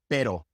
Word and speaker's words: pero: So for example in pero pero karios barios is just a very quick sound. Pero carios. Just pretend that you are pronouncing that quick D sound in English. Pero carios.